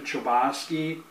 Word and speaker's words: Chbosky: The Perks of Being a Wallflower by Stephen Chbosky that's how you say his name um but